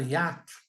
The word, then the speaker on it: hiato: Como é que você lê a palavra? Hiato. São 3 impulsos de voz, são 3 sílabas.